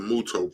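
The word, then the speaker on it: Mutoh: your website you guys carry a lot of muto products that's how you pronounce it right yes correct so and you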